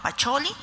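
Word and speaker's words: Pacioli: nombre en algunos casos nos tuvieron que decir que se pronunciaba pacholi Pero sabemos que es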